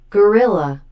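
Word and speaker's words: Guerrilla: It's pronounced gorilla. Is it pronounced gorilla? Just a different spelling. Okay then. Pro wrestling gorilla match hand of doom in January of 2019 against body or brody king.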